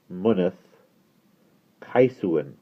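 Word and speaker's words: Mynydd Seswick: "Now that," he said, "is pronounced Munneth Kaisuin. Kais, like rice.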